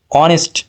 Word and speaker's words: honest: C is a truth because H is a consonant no here n will be the answer because honest so this pronounce like an vowel honest O Okay so